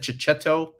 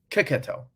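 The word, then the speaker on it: Checchetto: I think I said Chichetto, and they're like, no, Kiketto, I think.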